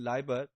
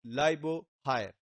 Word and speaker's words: Liebherr: We may say in terms of or we may pronounce it in Liebherr, but they pronounce it Libo higher, the Chinese. So the remaining part HERR actually pronounced in Chinese is higher.